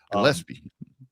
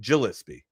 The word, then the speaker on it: Gillespie: that name right Gillespie Gillespie Yeah, thank you. Um, it's funny, too, because Maryland's got a guy that pronounces it Gillispy, right? The G is strong.